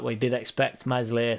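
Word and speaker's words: Meslier: weeks he's out so obviously mesle will be silent s will be back by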